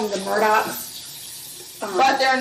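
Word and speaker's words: Murdaugh: the news of these they call them the murdock but they're not spelled the murdochs just by the way it's spelled murdered and the father is the one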